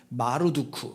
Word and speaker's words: 마르두크: 바벨론이라는 나라가 제국이 섬겼던 신의 이름이 뭐냐면 마르두크. 뭐라고요? 마르두크라는 신이에요. 그걸 줄여서 실제 발음은 말뚝이라고 발음이 돼요.